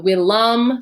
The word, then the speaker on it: villa: So willam for the accusative, willa with a long A for the ablative, and then pick the